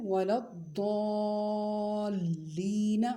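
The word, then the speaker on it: ولا الضالين: تو یہ لفظ ہے ولا الضالین، مطلب لام کو بھی 2 مرتبہ پڑھنا ہے کیونکہ مشدد ہے نا۔ پھر سے اس کے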